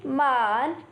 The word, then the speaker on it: men: Man. So the next Pinyin is MEN. Has a pronunciation of Man.